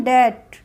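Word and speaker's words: debt: से पहले बी आया तो इसको क्या बोलेंगे डेट डेट ओके इसको डेप्ट नहीं बोलेंगे डीओ यू बीटी डाउट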